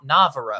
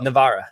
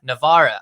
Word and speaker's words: Navarra: keeping it moving this king of no not navarro navarra navarra i even i i believe it or not